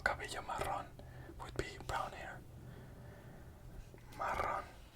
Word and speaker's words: marrón: So remember what I said about double R. So how would this word be pronounced? This word would be pronounced marrón.